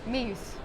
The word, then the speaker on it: Meeus: How do you pronounce it? Meeus.